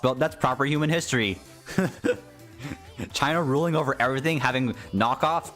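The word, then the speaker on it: Qin: that's the actual name of the dynasty in China that's why I like when they call they call it sin but it's actually Shen pronounced Shen in the Japanese version because guys it don't say don't say Keen or whatever it's chin it's pronounced chin like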